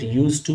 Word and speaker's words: used to: Keep in your mind here D is not pronounced or read. It is only written, but you need to read it used to, not used to.